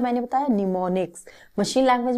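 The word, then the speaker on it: mnemonics: बात क्या है, इसमें निमोनिक्स यूज होते थे। निमोनिक्स इस तरीके से, आई थिंक डेफिनेट वो स्पेलिंग होती है बच्चों, निमोनिक्स, M से स्टार्ट होता है बट ये M इसमें साइलेंट है।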